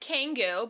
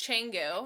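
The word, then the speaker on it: Canggu: just like gorgeous baby and it smell like kangoo but yes it's changu yes changu yeah um kind of funny pronunciation um but yeah basically we were never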